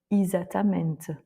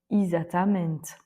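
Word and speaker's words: exatamente: Ensuite, il y a le cas où le e est placé en début de mot et qui est suivi par une consonne faible. Donc par exemple X où on va prononcer i. Isatamente. Isatamente. On l'entend assez régulièrement en portugais. Donc là, le e se prononce i ou enfin encore et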